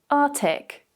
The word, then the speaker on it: Arctic: So instead of saying Arctic, it's quite common for them to remove it and say Arctic.